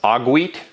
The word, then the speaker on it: Ogweet: So we'll say that that's pronounced Ogweet. It's the Ogweet now.